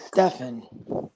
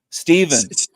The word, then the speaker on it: Stephen: thought your name was Stefan no you you gotta learn how to read Stephen Stephen yeah the pH named after the Saint the first saint the pH is the pH is silent so have you ever